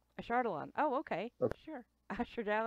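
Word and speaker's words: Ashardalon: al o n o a shard along a shard alone oh okay sure sure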